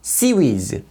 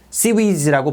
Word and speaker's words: CIWS: 근접 방어 무기 시스템인 약으로 ciws인데 붙여서 cvs cvs라고 발음합니다 대한미사일의 공격을 1000m 이내의